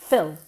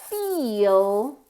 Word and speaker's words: feel: say pH F Phil Phil can you hear that whereas feel is nasal it's long it has two syllables almost okay so remember to say